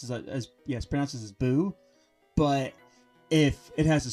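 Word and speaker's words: ぶ: For example, the character that's like Fu, if it has the two dashes on it, it's pronounced as boo. It's pronounced as boo.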